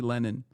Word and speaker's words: Lennon: Steven Yaxley Lennon, but not like Lenin.